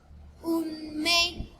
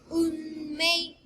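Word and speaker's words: うんめい: And last, unmei, unmei.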